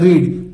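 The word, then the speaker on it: read: you would have रेड लिखेंगे रीड लेकिन पढ़ते हैं रेड ठीक है यू वुड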